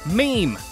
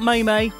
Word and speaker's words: meme: so many times already, it's pronounced meme, as in it rhymes with cream, or dream, or Adele Dazeem. So it's not May-May, Meh-Meh, or Meh-May, or May-Meh, whatever.